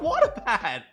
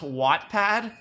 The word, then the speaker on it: Wattpad: pad what's wrong with what a pad it's pronounced wattpad okay okay okay boomer